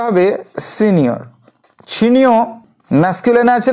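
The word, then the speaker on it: Signor: স্পেলিংটা হবে এস আই জি এন ও আর উচ্চারণটা হবে সিনিয়র সিনিয়র ম্যাসকিনে আছে না ফেমিনা আছে এটি আছে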